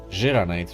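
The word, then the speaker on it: Xiranite: Xeranite, rather. That's how you pronounce it apparently.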